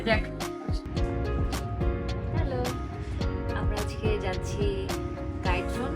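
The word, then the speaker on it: Giethoorn: Hello, আমরা আজকে যাচ্ছি গাইথ্রন, মানে আমার উচ্চারণে গাইথ্রন, আমি জানি না ডাচরা এটা কি উচ্চারণ করে, কি আসলে উচ্চারণ অন্তরা? গিথরন।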